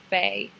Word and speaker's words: Fe: at Psychic Medium Samantha Faye. And that's Santa, it's spelt like Santa Fe.